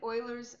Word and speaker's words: Euler: So we're looking at Euler's method, which happens to be 6.1 in the Demana Weights AP Calculus book.